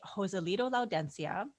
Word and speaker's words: Joselito Laudencia: But anyway, our guest today, Joselito Laudencia. Joselito, am I pronouncing that correctly?